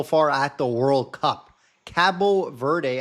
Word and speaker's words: Cabo Verde: Cabo Verde, as they are actually pronounced in Portuguese.